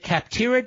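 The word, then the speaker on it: Capterra: check them out here's where you go visit kaptara comm slash Levin today and join the millions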